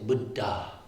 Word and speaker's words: Buddha: budda budda and then double consonants which we're kind of sloppy about in English. Sometimes both consonants get pronounced but most of the time they don't. In poly they always get pronounced. So that's where you're getting this and it creates like a stop when you pronounce both consonants.